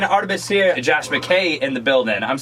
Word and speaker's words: Josh McKay: Josh McKay in the building.